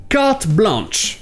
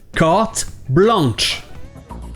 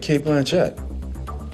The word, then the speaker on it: carte blanche: Mais le problème, c'est que le son « en » n'est pas super commun en anglais. Donc ils vont prononcer le N. Carte blanche.